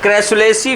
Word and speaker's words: Crassulaceae: चलो लिखो, cam plants लिख रहा है, देखो cam cycle CAM cam cycle was first observe in क्रैसुलेसी family, board पे स्पेलिंग लिखी हुई है, CRASSULACEAE, क्रैसुलेसी family, CRASSULACEAE, क्रैसुलेसी family, क्रैसुलेसी family, क्रैसुलेसी family.